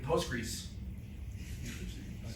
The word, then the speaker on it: Postgres: and now um I'm becoming an expert in postgris That's how you pronounce.